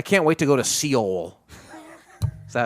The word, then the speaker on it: Seoul: wait to go to Seoul is that how you say it Seoul no soul yeah so hey this